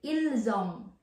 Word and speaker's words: ils ont: Ils ont, like I said earlier po, il is, we spell it with S. And then yung kasunod po niya, O-N-T, kaya magiging bigkas na po natin. Ilzong.